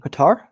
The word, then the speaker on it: Qatar: o michael and kate cater how do you spell that q-a-t-r cater is how you say it qatar i'm working on that